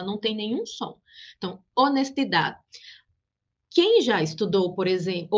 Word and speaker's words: honestidad: Su nombre en español es H, honestidad. Observa que en español no suena, la H no suena, não tem som, ela não soa, ela não tem nenhum som. Então, honestidade.